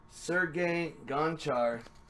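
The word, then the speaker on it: Sergei Gonchar: triple salchow we have a winter warriors Jersey Sergey gancho that's how you say it Senate rows we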